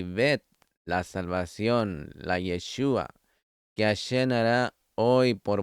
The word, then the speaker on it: Yeshua: Y para el nombre Mesías es Yeshua, con el acento en la U, que significa Él salvará.